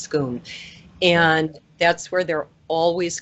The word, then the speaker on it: Scone: to Scoon which we think the word is scone but it's actually pronounced scone and that's where they're always crowned and so